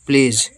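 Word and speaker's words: pledge: बिजली उत्पन्न करते हैं पी एल ई से प्ले और डी साइलेंट है जी ई से जा प्लेज प्लेज बोलते इसको ठीक है इस तरीके से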